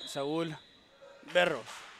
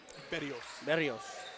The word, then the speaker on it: Berrios: Got our good friend from the monitor, Saul Berros. Did I say it right? Berrios.